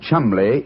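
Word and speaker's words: Cholmondeley: Being an American, he had no reason to know that the name Chumbllay is in no way pronounced the way it is spelled.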